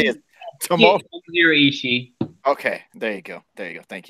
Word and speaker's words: Ishii: Ishii.